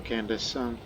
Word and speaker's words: Candace: We call a girl's name Candace. That's how it's pronounced.